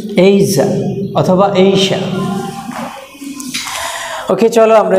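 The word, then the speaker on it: Asia: দ্বারা আর এটা হচ্ছে এখানে স্ট্রেস এখানে একটু জোর দিয়ে বলতে হবে এইজা এ এ সাউন্ড আই সাউন্ড জা সাউন্ড আ সাউন্ড তাহলে এইজা এইজা অথবা এইশা এইশা তাহলে এটার উচ্চারণটা কি এইজা অথবা এইশা ওকে চলো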